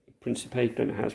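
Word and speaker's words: Príncipe: the public of Congo Gavin Sao Tome and princip Principe and it has pronounce apologies we are thankful for healing some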